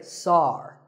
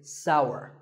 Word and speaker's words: sour: what about this taste it's pronounced sour some people say Saar that is a mispronunciation the only correct way to say this word is sour many words in the